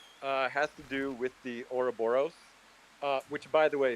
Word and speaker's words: Ouroboros: My favorite lore fun fact has to do with the Ouroboros, which, by the way, Bear can't even pronounce it. He pronounced it Aurora Borealis the other day on a stage.